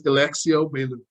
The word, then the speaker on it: Elexio Baillou: Whenever It is Elexio Baillou.